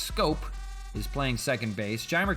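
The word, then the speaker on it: Schoop: Castro the DH Jonathan scope is pronounced scope is playing second base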